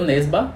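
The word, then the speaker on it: Nesbø: o autor é norueguês inclusive se pronuncia e o nerba eu não sabia disso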